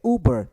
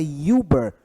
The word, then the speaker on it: Uber: louvor esse som de Uber tem som de u aquele um longo então Uber Uber Uber é Uber e não é ilber ilber tão Uber SOS ele tem som de u mais longo E se ele tem